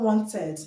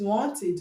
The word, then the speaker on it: wanted: Once the id is pronounced id. Okay, id, not ed. Is not wanted. Is not wanted. Is wanted.